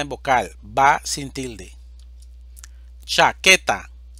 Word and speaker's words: chaqueta: vocal va sin tilde chaqueta división silábica cha que ta sílaba tónica que es una palabra grave